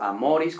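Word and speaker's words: amoris: acento no de que a amor con el acento en la a pero a maurice con el acento en la o pues bueno ahí ya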